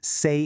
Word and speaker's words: 세: The first one, sway, is pronounced say in Korean, and it means year.